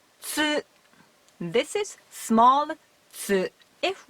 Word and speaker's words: つ: This is big tsu. We pronounce it as tsu.